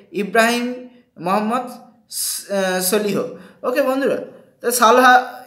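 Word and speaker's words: Solih: মোহাম্মদ সলিহ ওকে বন্ধুরা সালহা ইংরেজিতে সালহা উচ্চারণ হবে তাহলে মালদ্বীপের রাষ্ট্রপতির নাম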